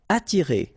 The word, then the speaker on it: attirer: Attirer, okay? Don't pronounce the double T. You only pronounce this.